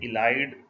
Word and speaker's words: ylide: इसका जब हम रिएक्शन करवाते हैं मिथाइलिन ट्राइफिनाइल फॉस्फेन के साथ, इसका जनरल नेम है इलाइड, YLIDE लिखते हैं और इसे इलाइड प्रोनाउंस करते हैं।